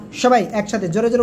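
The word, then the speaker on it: ثاء: সবাই একসাথে জোরে জোরে উচ্চারণ করেন তো।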